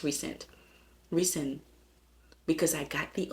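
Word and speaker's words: Rhysand: and then rice and he's his name is pronounced recent recent because I got the audiobook and the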